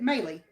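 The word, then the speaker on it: Mali: It's M-A-L-I, but you pronounce it Maylee.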